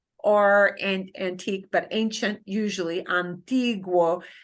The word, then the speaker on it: antiguo: There, the UO is, okay. Here, we would call this a diphthong because it's two vowels sitting next to each other, and I'm not pronouncing the U, any harder than the O. The two sounds should blend together and get about the same amount of stress. They should blend together to form one sound as much as they can.